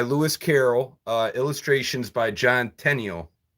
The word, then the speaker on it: Tenniel: This is a Alice in Wonderland book by Lewis Carroll, illustrations by John Tenniel. That's how you say his name.